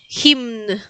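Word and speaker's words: hymn: el último es un poquito más complicado, es himn. Himn. Recuerden que tienen que pronunciar todas las las letras. Entonces, eh, los polacos pronuncian absolutamente todas las letras. Entonces, se pronuncia la m y la n. Himn.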